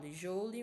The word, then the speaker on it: joule: Por exemplo, no caso do calor aí, o calor, a energia é medida em joule, como está escrito, joule, mas a pronúncia é joule.